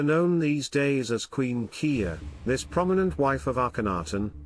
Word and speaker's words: Kiba: The name Kiya derived from the Mittanian goddess Kiba, pronounced Kiya.